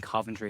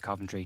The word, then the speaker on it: Coventry: I need to I need to correct you on your pronunciation of Coventry. You keep saying Coventry. It's it's Frank Lampard. It's Coventry.